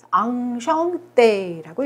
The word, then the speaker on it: enchanté: 자, 보시면은 모음하고 n이 만나서 이렇게 비모음이 되죠. 앙. 여기까지 또 끊으면은 슈 발음에다가 앙이니까 숑. 그 다음에 때에다가 악상이 붙어 있죠. 때. 앙숑 때라고 읽어요.